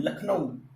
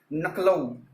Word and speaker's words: लखनऊ: तो उसका नाम है लखनऊ, और तो उसका उच्चारण किया जाता है बहुत से लोगों के द्वारा नकलऊ, जो कि एक विपर्यय अशुद्धि है।